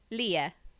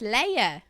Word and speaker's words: Leah: It's Leia actually. Oh, Leia. I am so so sorry. No problem. I imagine that. Do Do most people see your name and just assume Leah?